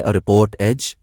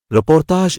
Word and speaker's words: reportage: کے ساتھ ترقی کی۔ یہ وہی صنف ہے جسے انگریزی میں رپورٹ ایج کہتے ہیں۔ رپورتاج اسی لفظ کا فرانسیسی تلفظ ہے۔ کسی واقعے کی خبر